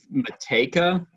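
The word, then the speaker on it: Matejka: name uh uh but mateka yeah i'm assuming that jay is silent he's or he's a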